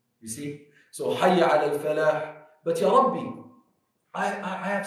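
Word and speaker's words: فلاح: Very important, pronounce the Ha. A lot of people say Hayya ala Falah. Wrong. There's no Falah. There's Falah.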